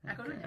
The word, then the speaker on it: A Coruña: A Coruña.